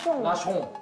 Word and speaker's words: nation: 그 다음에 션은 무조건 숑이 돼요. 그러면은 나숑. 나숑.